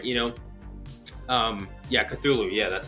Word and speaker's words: Cthulhu: Yeah, Cthulhu.